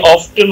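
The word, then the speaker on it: often: আর কেউ এটারা কি অফটেন ও রাইট দুটোই open, আচ্ছা আমি এটাকে অফেন বলি, ও এফ টি এন, অফেন, কিন্তু এটা they both R correct, right? আপনি ইউ ক্যান সে অফেন অর অফটেন, বাট আমি এটাকে অফেন বলি, অপোজিট।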